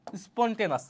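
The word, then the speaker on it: spontaneous: স্পন্টেন তার ই আছে একটা ও ইউ এস স্পন্টেনাস অনেকে আমরা পার্সোনালি এডমিশনের সময় যাতে ভুল না হয় এইভাবে পতাম স্পন্টেনিয়াস স্পন্টেনিয়াস কেন উচ্চারণ হছে স্পন্টেনাস ওকে সতস্পূর্তভাবে খুবই খুবই গুরুত্বপূর্ণ ভাইয়া।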